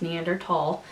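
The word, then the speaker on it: Neanderthal: that they test for are neander tall and yes it is pronounced neander tall um variants and I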